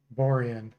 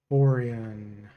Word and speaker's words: Borean: Bo says it's pronounced Borean, but with my spelling. Okay, Borean. Borean.